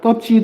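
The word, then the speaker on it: 떫지: 떱지 같은 경우는 자음근 단순화 현상으로 인해서 비읍이 탈락합니다. 근데 그 전에 어떤 현상이 있느냐 이거 볼게요. 이거를 발음하면 이것을 좀 펼쳐보면 이렇게 됩니다. 쌍디귿 리을 비읍 지읒 이가 됩니다. 인정하시죠? 그래서 떱지가 되는 거죠.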